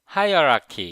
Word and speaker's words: hierarchy: 제가 이 단어를 hierarchy 이렇게 발음을 했는데 hierarchy 이렇게요. 근데 이걸 잘 들어보면 high hierarchy 이렇게 발음해요.